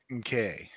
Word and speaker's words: MCK: It's pronounced MK.